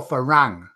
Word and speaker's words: farang: How do you say Farang or Farang? Farang. Oh, it's two ways to say it. Two ways. R and L are the same for Thais, aren't they?